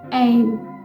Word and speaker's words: AYEIM: तो आज का जो स्विच वर्ड है वो है एम। एक बार फिर से बोलती हूँ, एम एम। इसका प्रोनाउंसिएशन अभी शायद आपको डिफ़िकल्ट लग रहा होगा,